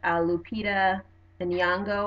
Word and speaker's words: Lupita Nyong'o: the ways in which Lupita Nyong'o I believe that's how you pronounce our name and you know her